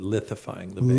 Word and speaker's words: lithifying: So not liquefying the base, but lithifying the base.